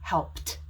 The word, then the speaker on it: helped: a t sound and the e is silent so the word will actually only make one syllable and not two so for example the